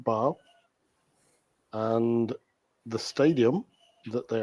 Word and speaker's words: Basel: But it is, although it said Basel, it's pronounced Basel.